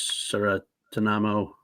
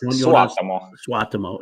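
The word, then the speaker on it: Suotamo: by the way, to I never can pronounce his name, but Jonas Saratanamo. Well, he's Finnish, actually. Finnish. Can you say a name better than I can? Probably, maybe. I'm just looking it up. It's Jonas Swatamo.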